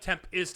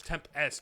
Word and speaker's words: tempest: Oh, it's not tempist, it's tempest.